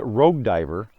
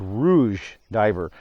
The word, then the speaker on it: Rouge Diver: the Rouge diver now I had been mispronouncing this for years I called it rogue diver and dummy mean never really looked at the spelling it's not ro gue it's ro ug so it's Rouge diver Rouge red of course